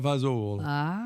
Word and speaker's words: fagioli: Pasta fagioli.